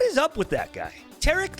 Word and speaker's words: Taric: about tarik what is up with that guy tarik like yes you said it right super sonic